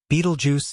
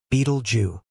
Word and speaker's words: Betelgeuse: Beetlejuice is often mispronounced as Beetle Jew this red giant star